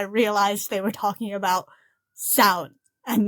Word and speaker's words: Samhain: seem to pronounce it I've heard it pronounced Sam hay by Americans and I'm like I'm but that's two separate words those are two words and that's a name